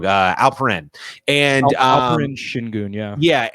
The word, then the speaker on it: Alperen: got Usman Garuba and Alfred Sengun, and in their first game, you just see flashes of it. You see like Alfred in the paint. I think I'm saying his name wrong. Alperen.